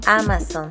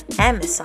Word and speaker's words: Amazon: No se pronuncia Amazon, se pronuncia Amazon.